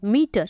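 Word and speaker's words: meter: है और दूसरा वाला ऐज अ हुआ है मीटर वैसे ही एंटर एंटर में पहला वाला ए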